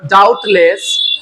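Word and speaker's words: doubt: বলছে ইউ আর ডাউটলেস very big. এই যে ডাউট, এখানে বি এর উচ্চারণটা হয় না, সাইলেন্ট থাকে, ঠিক আছে?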